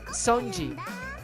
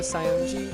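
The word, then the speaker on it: Saionji: I'm Sonji. Sayonji? Is that how you say it? Sayonji, the ultimate traditional dancer.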